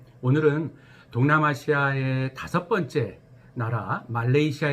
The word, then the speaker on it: 말레이시아: 더 페드로 액션 혹은 말레이시아 합니다 아 말리지 하라고 발음 하시는 분들이 가끔 있는데 그건 좋지 않은 발음입니다 말레이 플러스 씨아 말레이 해 섬들 이런 합성 하거든요 그래서 빼도 레이 션